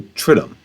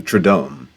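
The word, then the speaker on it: triduum: day are called the the tridum or the tradome depending on how you want to pronounce the two 's in there.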